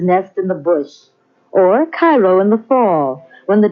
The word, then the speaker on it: Cairo: Oddly enough though, Illinois is sometimes referred to as Egypt because the fertility of the soil in and around Cairo or Cairo, giving it the Illinois pronunciation, resembles that of its Egyptian namesake.